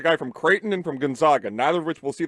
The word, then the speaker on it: Gonzaga: Gonzaga it's Gonzaga Gonzaga Gonzaga like zigzag we are ending this